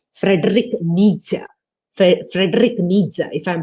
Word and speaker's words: Nietzsche: is a german philosopher called frederick nietzsche frederick needs if i'm pronouncing it correctly what he said is we